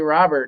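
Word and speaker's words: Luis Robert: You would think with Louis it would be Robert, not Robert, but all the announcers say Robert, and I've heard a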